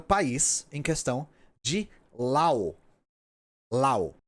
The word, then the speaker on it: Laos: O país se escreve L-A-O-S e eu vou me referir a este país como Lao. Laos está errado. Não exatamente. Não está errado. Mas, como eu não consegui encontrar um consenso a respeito da pronúncia, e como eu tenho certeza que as pessoas do país em questão chamam o próprio país de Lao, eu optei pela pronúncia que eu tenho certeza.